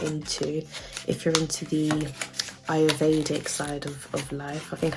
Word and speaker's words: Ayurvedic: Essential oils is quite good for you to get into if you're into the Ayurvedic side of life. I think I said it right, Ayurvedic.